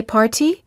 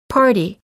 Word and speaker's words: party: little we say little after an r and a vowel we don't say party we say party we don't say 40.